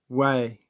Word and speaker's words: Huay: Way, which is spelled Huay, means sorcerer or animal familiar.